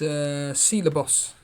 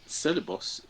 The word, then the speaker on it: Ceballos: What are your thoughts on this Ceballos that Arsenal have got?